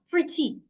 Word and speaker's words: pretty: An example is pretty, pretty, not pretty, pretty. I will say the first part, pre, louder, longer, clearer, pretty.